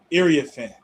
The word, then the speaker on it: Iriafen: You pronounce the name Iriafen, but through her whole career, every time you did be on TV, it called her Iriafen and Oh wow, Iriafen, yeah, but it's Iriafen. Iriafen.